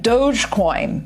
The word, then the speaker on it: Dogecoin: if you weren't i would have pronounced it dog ecoin so thank goodness that you're here to tell us how to break yeah it's i've heard it pronounced dogecoin it might get another